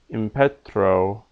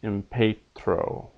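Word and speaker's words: impetrō: a position laodundus cloudandis note a mute that is a voiceless letter you can see those there followed by a liquid those letters there does not count as two consonants uh impetro not impetro so those trills with r's and L's basically will keep it short and all other syllables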